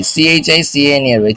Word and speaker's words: chicanery: চিকেনারি, CHICANERY, চিকেনারি, চিকেনারি, চিকেনারি, চিকেনারি, চিকেনারি, চিকেনারি মানে চিকেন বলতে পারো না আসলে।